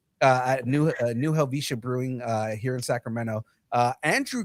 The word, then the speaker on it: New Helvetia: New Helvetia.